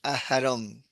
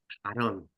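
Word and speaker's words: אהרן: si la G la lees, es Aharon. Aarón. Nosotros la leemos Aarón, ¿no?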